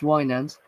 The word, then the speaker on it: Winans: Charles Francis Wanders, pronounced Wands, was born in Alice, Texas, May 14th, 1939.